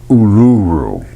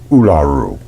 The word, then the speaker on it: Uluru: Well, I did a video on Uluru and I'm I'm I'm told it's not pronounced that way. It's supposed to be olaru, something like that. Whatever they call its rock, uluru, oluroo, whatever it is.